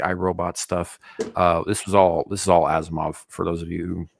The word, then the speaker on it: Asimov: It's Asimov, not Asimov.